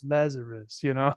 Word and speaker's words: Lazaros: Actually, it's Lazarus, It's Lazarus, I'm yes, not one of yes.